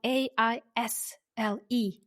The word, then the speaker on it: aisle: So, according to or the online dictionary, the word isle, which is spelled a i s l e, but s is silent.